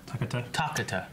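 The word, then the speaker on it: Takada: like a tuk-tuk attack Takata it's a long a and in two twenties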